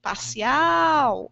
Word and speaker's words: parcial: Quando você pronuncia, você não precisa nem gritar, você só precisa pronunciar harmonicamente. Parcial. E esse ao aqui é a nossa sílaba tônica. Belezinha? Eu encontro, já que parcial, a sílaba tônica que está aqui no final, ela é, portanto, uma oxítona.